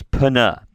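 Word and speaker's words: πνεῦμα: And I should say, when you have a pi and a nu together in Greek, you pronounce those as two consonant sounds. Pana.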